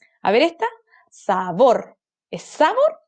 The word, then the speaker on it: sabor: ¿Es sabor o sabor? Sabor. Sílaba tónica, última. Entonces es una palabra aguda.